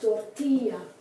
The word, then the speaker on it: tortilla: the I is pronounced tortilla the I is pronounced like the I in Spanish let me think of